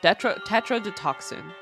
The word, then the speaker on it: tetrodotoxin: Tetrodotoxin. Is how it's pronounced.